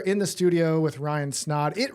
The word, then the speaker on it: Snaadt: We are in the studio with Ryan Snod. It rhymes with snod rhymes with odd.